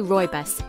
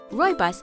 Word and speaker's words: Rooibos: caffeine-free Roy buus is tough to pronounce but easy to love Roy buus or red bush comes from South Africa where